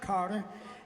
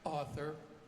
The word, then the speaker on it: Harter: We always like meeting new people, and this gentleman's name is Carter, and Carter, right? Oh.